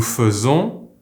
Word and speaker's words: faisons: The verb FAIRE is conjugated Je fais, tu fais, il fait, nous faisons, vous faites, ils font. Watch out for that nous, the AI is pronounced like an E here, with the sound EUH.